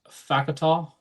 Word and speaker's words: Fakatou: And then the big one, the five-star defensive lineman, Marcus Fickatall out of Sierra Canyon. I actually just learned how to pronounce his name a couple days ago when I I reached out to him for the pronunciation.